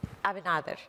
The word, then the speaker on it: Abinader: So here we have President Luis Abinader. Did I pronounce that correctly? Yes.